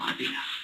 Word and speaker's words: Avila: Avila. Okay. What's your date of birth? See how she says it? That's how you say it.